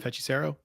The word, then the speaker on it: Hechicero: MJF Hechicero.